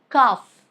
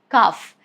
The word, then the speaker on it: calf: Letter L is silent if it comes after A, like calf, calf. There is no sound of L.